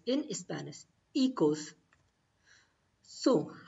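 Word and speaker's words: hijos: echoes means children echoes h is silent so you will say ecos equals so children is called ecos in spanish ecos so how will you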